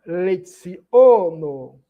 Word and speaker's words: leciono: Tria, tria, leono. Lembrando que o c tem um som de ts e o o é fechado.